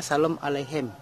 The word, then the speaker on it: Shalom aleichem: bahasa yang populer yaitu bahasa Ibrani yang populer pengucapannya adalah Shalom aleichem jadian diantara kesemua bahasa ini yang lebih populer